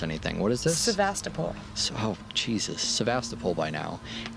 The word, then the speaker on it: Sevastopol: See, my problem is I can't pronounce anything. What is this? Sevastopol.